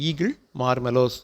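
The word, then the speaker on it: Aegle marmelos: புக்கில் ஏகிள்னு கொடுத்துருப்பாங்க, ஆனால் சரியான உச்சரிப்பு வந்து ஈகிள் மார்மெலோஸ் அப்படிங்கிறது வில்வம்.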